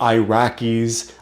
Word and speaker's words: Iraq: It's Iran, it's Iraq. You don't have to say it that way, but it's E, not I.